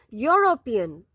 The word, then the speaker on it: European: Dash European. Dash European. It has E in the beginning. E is a vowel. But the pronunciation starts with Y.